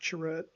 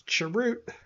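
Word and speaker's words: Chirrut: than if you select Churret. So, sometimes if I see Churret on a I'm probably saying his name wrong and you guys are all like, "Oh my god, stop saying it. It's Chirut."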